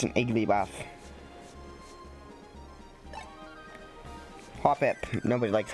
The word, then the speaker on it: Hoppip: I know it's Hopip. I know it's spelled it's pronounced Hopip, but I'm gonna read it how it's like spelled.